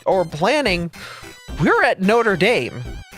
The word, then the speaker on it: Notre Dame: in the world called called Notre Dame besides Notre Dame is pronounced Notre Dame you don't call notra Notre Dame you don't say the Hunchback of Notre Dame